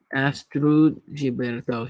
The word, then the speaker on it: Astrud Gilberto: It sounds all fancy, but it's really Astrid Gilberto. Okay. Astrud Gilberto.